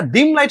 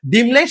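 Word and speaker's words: dim light: প্রথমত না, তারপরে আরো কিছু বিশেষজ্ঞগণ তারা বলে যে এটা ডিম লাইট হবে না, এটা হবে হচ্ছে ড্রিম লাইট। তারাও এটা ভুল বলে। অ্যাকচুয়ালি এটা সঠিক উচ্চারণটা তোমরা প্রথমে যে ভুলভাবে বলতা ডিম লাইট, সেটাই, কিন্তু তার একটা অন্য কারণ আছে।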